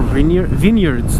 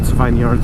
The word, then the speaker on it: vineyards: Vineyards and more vineyards, not vineyards, it's vineyards. Come on, Cager, good pronunciation.